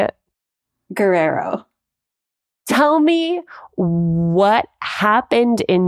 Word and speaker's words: Guerrero: Guerrero. There was a period of time, though, where that was not how you say it. Can I hear how you would say it? Guerrero.